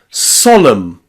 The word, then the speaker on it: solemn: That final N is silent. Autumn, column, hymn, and solemn.